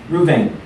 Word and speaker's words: Reuben: Reuben, or sometimes just pronounced Reuven.